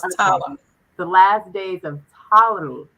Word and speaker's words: Ptolemy: to mispronounce the word because it sounds like the P is silent. But It is. The P is silent, so it's okay. Ptolemy.